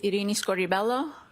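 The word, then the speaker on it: Irini Scordibello: My name is Iini Scoribelloo. That's spelled I R I N I S C O R D I B E L L O.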